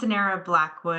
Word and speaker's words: Sonara Blackwood: And I hope I pronounced that correctly. You're great. Hi, thank you, Charlie. Yes, my name is Sonara Blackwood.